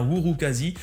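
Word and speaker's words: Urukazi: patch additionnel whouri alors ça s'écrit urukasi mais ça se prononce bien whour quasi et avec oui nouveau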